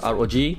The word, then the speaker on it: ROG: sets for oh oh you guys pronounce it as rog republic of gamers tada oh my god